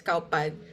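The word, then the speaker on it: ข้าวผัด: That's how they say it, the Thai fried rice, cow pad.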